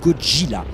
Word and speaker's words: Gojira: Enfin, pour être complet, sachez que Godzilla se prononce en japonais Gojira.